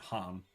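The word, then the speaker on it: Khagan: They type it Kagan, and then they pronounce it Han.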